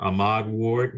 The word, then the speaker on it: Ahmad Ward: our record would you state your name and spell it for us sure uh ahmad ward is a-h-m-a-d-w-a-r-d do i have your permission to